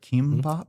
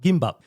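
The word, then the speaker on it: Kimbap: Kimbop. Kimbop. So, what you'll find too is uh with Korean food, the pronunciation and uh phonetic spelling is often different.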